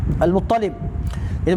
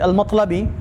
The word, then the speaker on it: Al-Muttalibi: iaitu Muhammad bin Ishaq Al-Muttalib. Itu Muhammad bin Ishaq Al-Muttalibi. Dulu saya baca Al-Matlabi, tapi bila saya rujuk adalah Al-Muttalibi.